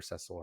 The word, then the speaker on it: Cecil: um which you know Cecil does as well or cesil however you want to pronounce it um I think makes